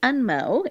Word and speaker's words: unmo: his name you yeah it's like unmotivated so think about the unmo in your life or